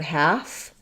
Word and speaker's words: half: Yeah, okay, so yes, the word half and behalf, there's the L is silent in both of those words.